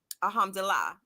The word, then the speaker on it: Alhamdulillah: But he said, Alhamdulillah. I think I said that correctly. Yeah, you said it right.